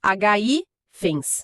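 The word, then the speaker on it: hífens: Ifens vira ifens, a força da voz continua no mesmíssimo lugar. Hi fens, tá, continua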